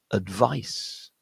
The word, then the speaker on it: advice: And this is yet another word where the A at the beginning is a schwa sound. That's a. and the rest of the word is where the stress point is on the second syllable. So we end up with advice. Advice. Yeah. And that ending, that CE ending, ends with an S sound.